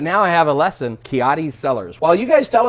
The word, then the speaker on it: Ciotti: But now I have a lesson, Ciotti Cellars.